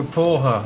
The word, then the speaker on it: porra: Que porra, that's why. Porque? Porque, man? I already told you, that's not how you pronounce it. Que porra, okay, fine.